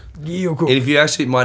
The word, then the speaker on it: Guilloux-Cooke: James Austin Dustin Guilloux-Cooke. Did I get that right? Guilloux. Guilloux. Oh, Guilloux. It's Dustin. It's Guilloux-Cooke. Guilloux-Cooke. And if you actually my name pronounced in full French, Give it to me.